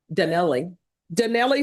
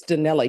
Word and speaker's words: Donnelly: It's not Donnell. Donnelly. It's Donnelly, correct?